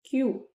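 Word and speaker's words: queue: Word होता है क्योंकि इसकी स्पेलिंग देखिए, इसके 5 लेटर्स हैं, लेकिन हम इसको सिर्फ बोलते हैं क्यू। 5 लेटर में से हम सिर्फ क्यू को बोलते हैं, बाकी जो लेटर्स होते हैं वो ऑलमोस्ट साइलेंट ही होते हैं।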